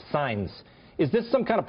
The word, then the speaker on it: Saenz: first of all, your name is Saenz. That's how it's pronounced, Saenz.